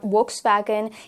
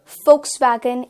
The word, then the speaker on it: Volkswagen: But we need to remember it's not Volkswagen, it is Volkswagen. Volkswagen is the correct pronunciation.